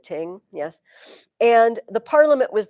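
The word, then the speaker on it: þing: The Norse word for court, it's funny, is ting. It's spelled like thing, but they pronounce it ting, yes.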